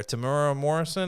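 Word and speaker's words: Temuera Morrison: Tamura Morrison. Am I am I pronouncing that correctly?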